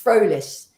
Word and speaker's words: Frolich: my my name is is in German it's frolish and it means happy